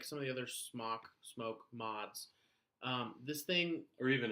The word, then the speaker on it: SMOK: love or they hate SMOK or smoke, however you want to pronounce it. I prefer smoke because it sounds weird to say the other one.